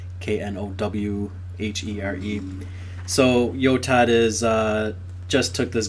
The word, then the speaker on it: Knowhere: It's called Knowhere, spelled with a K, Knowhere.